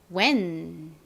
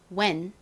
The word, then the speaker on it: when: 자, WH는 우 소리가 나고요. 그리고 다음 이는요. 이의 대표적인 소리 아, 에, 이, 오, 우 할 때 그 에 소리가 납니다. 에. 우 소리와 에 소리가 빠르게 연결해서 발음 나면 어떤 발음이 되나요? 우에, 왜 발음이 되죠. 왜. 자, 그리고 옆을 봤더니 n이 또 왔습니다. n이 받침으로 들어가는 단어 여러 개 봐서 이제 익숙하시죠? 자, 받침으로 넣어줍시다. 그러면 발음이 어떻게 되죠? when 이라는 발음이 됩니다.